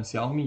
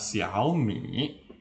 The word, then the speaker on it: Xiaomi: tidak tahu bacanya Xiaomi Xiaomi sebenarnya itu bukan Xiaomi ya sebenarnya adalah Xiaomi nah Xiaomi itu dari